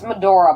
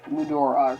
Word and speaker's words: Mudora: book of motor medora it's medora but i was just reading a book of mudora or something i can never pronounce it right it's like medora but i just don't